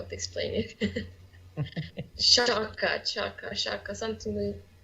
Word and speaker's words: Xhaka: one thing of course chaka chaka yeah like in cheer yeah alright so that's genic true okay good black granite chukka fair enough it's their pronunciation of Albanian so okay so does